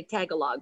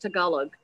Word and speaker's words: Tagalog: and a lot of some people say tagalog but it's tagalog and i probably mispronouncing it also but it is